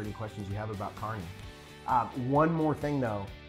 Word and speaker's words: Kearney: you and answer any questions you have about Carney uh one more thing though is a lot of people pronounce it Kearney and so that's a dead giveaway that we